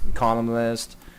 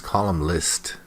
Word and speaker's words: columnist: Columnist. See, there's some good vocabulary here. Bigoted is good. Irresponsible is pretty good. Editors is good. Columnist is also good, but he mispronounces it. He says column list.